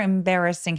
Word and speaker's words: embarrassing: embarrassing 강세는 반드시 이음절해 주셔야 되고요. 임베레가 아니라 embar처럼 입술을 내밀어서 알바름으로 내시면 훨씬 더 자연스러운 소리가 납니다. Something super embarrassing happen to me.